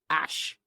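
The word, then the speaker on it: Æ: Musk, meanwhile, told podcast host Joe Rogan, I mean, it's just X, the letter X, and then the XE is like pronounced Ash, and then A-12, A-12 is my contribution.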